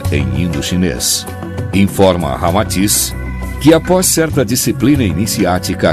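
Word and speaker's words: Ramatís: Unindo-se Rama e Atis, Sita ao inverso, resulta Rama-Atis, como realmente se pronuncia em indo-chinês. Informa Rama-Atis que após certa disciplina iniciática a que se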